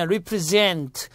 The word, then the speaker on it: represent: 그 다음에 represent, z 발음인데 뭐뭇을 나타내다, 대표하다.